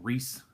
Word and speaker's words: Rhys: into it is that I pronounce it Rhys the redeemed all right rhy yes I think spells Rhys you know with a